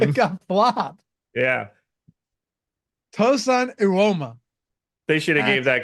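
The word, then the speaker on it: Evbuomwan: How in the world do you get that from that? Ewoma. I don't know. Where did the B go? Where did everything go?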